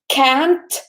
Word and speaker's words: can't: the negative guys remember you need to pronounce or emphasis to the T at the end so I can't or I can't because if we don't hear the T it just sounds as if you can for everything can can't we need a team ant yes need to know because it's can not hmm so let us